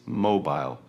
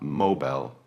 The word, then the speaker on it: mobile: It is mobile, not mobile, like in American English. The I is long and distinct.